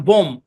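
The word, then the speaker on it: bomb: silent ব্যাস একদম simple শব্দের শেষে এমবি থাকলে বি সাইলেন্ট যেমন দেখেন বম বম বম বম এরকম না বম ঠিক আছে তারপর থাম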